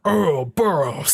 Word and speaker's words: Ouroboros: So, Ouroboros. So yes, I know how to say it. Excellent. It's kind of like the sound that big block in Super Mario makes when it hits the ground.